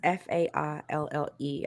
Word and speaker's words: faille: It says the fail dress, Faille. I would pronounce that as fail.